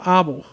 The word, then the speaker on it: Abel: couple and their son we would say Abel but they they pronounce it abble abble abble are are